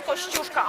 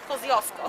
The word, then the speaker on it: Kościuszko: Nobody could pronounce Kościuszka outside Poland, so maybe you hear now about Kosciuszko.